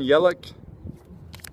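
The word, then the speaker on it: Yelich: see the names I pulled out okay Kristen yelik says that's how it's pronounced Yadier Molina celebration huh met celebration what's up uh nevamo 11 15.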